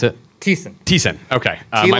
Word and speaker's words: Thiessen: Thiessen. Okay. My name is. You drink, sin like you confess.